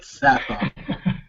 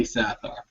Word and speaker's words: Sathar: the evil sathar and that's how we're pronouncing it sathar there's been a lot of controversy over the years as is it Saar or sathar we're going to say sathar um so uh the